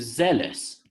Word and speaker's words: zealous: And then it changes to zealous. Weird, isn't it?